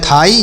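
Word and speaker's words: thigh: THIGS तो TS से पढ़ेंगे था और यहाँ पर आई से पढ़ेंगे ई तो इसे पढ़ेंगे थाई, GH यहाँ पर साइलेंट है तो इसे पढ़ेंगे थाई।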